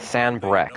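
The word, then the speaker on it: Sanbreque: Sanbrec, okay, that's how the singular of that is pronounced.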